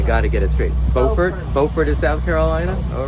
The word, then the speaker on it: Beaufort: Buford, South Carolina.